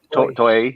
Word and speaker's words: Toei: Toei, right? Toei, yeah.